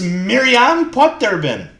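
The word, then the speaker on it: Mirjam Poterbin: I think it's Miriam Potterbin, but I could be wrong. That is correct. But I didn't even think it was. I didn't even know it was pronounced that way.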